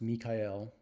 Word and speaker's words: Michael: translation of my name Michael uh pronounced Mikael um in Islam is